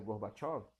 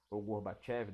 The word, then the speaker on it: Gorbachev: soviética que foi o mikhail gorbatchov gorbachev depende pronuncia seria bem diferente porque o gol o